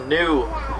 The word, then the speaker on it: gnu: talking population they're also commonly referred to is the new that's spelled gnu that's for the grunting noises they make when they communicate oh look